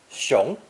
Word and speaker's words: 熊: Pronounced second tone.